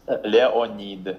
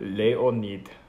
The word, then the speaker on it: Leonid: like a Russian would is it Leonid yes that is Leonid lay or need okay that's good I'm glad I got it right oh yeah you're